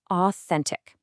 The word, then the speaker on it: authentic: Next up on our list is authentic. It is pronounced authentic.